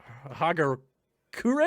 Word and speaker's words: Hagakure: so here is the subtitle john wick for hager kure is how you pronounce that it's japanese and apparently it's a